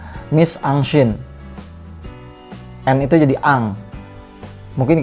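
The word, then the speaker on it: mise-en-scène: atau kita bacanya ini adaptasi dari bahasa Perancis kita membacanya yaitu My Sunshine and itu jadi Ang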